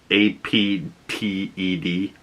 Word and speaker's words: Apted: But, you know, this is directed by Michael APTED, A-P-T-E-D, APTED, I think is how you say his name.